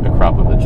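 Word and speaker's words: Akrapovič: And I know it's confusing if you saw the Akrapovich tips, and yes, that is pronounced Akrapovich.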